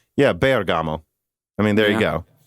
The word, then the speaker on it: Bergamo: let me just say bergamo is pronounced with emphasis on the e yeah bergamo i mean there you